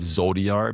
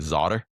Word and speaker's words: ZODR: Uh somebody joked with me recently that they don't quite understand Zodiar because they're pronouncing it Zotter. But uh for me it it's kind of stuck. So I that's why I say Zodia.